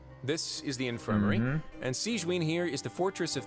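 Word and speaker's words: Sigewinne: to introduce you this is the infirmary and siegeween here is the Fortress of marapid's head nurse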